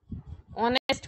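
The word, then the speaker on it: honest: More ऑनेस्ट ऑनेस्ट बोलते हैं इसको। ठीक है? एच साइलेंट रहता है मोर ऑनेस्ट और जैसे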